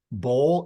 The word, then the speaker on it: Boal: it's l Bowl as in Bowl I had to make